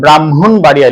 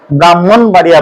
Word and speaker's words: ব্রাহ্মণবাড়িয়া: ব্রাহ্মণ বাড়িয়া এখানে দেখুন এই হ এর উচ্চারণটা কিন্তু পরে হবে সবসময় তাহলে আগে হবে কোনটার